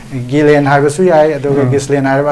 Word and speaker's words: Ghislaine: Maxwell hai adu ma gi pronunciation je ko Ghislaine hai ba su yai adu Ghislaine hai